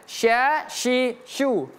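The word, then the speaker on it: ش: Huruf syin ini hati-hati kalau kita tertukar bacaan tersebut dengan huruf sin karena berbeda sin dengan syin sa si su dengan sya syi syu.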